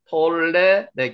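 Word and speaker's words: tolle lege: 톨레레게. 설레게. 톨레르게, 톨레르게, 톨레레게. 앞에 있는 게 톨레레게. 톨레르게. 그대로 발음 나는 대로 읽으면 됩니다.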